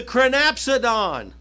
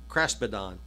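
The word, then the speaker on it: kraspedon: She grabbed the crinapsidon. I get that wrong. I say it wrong sometimes. Craspidon.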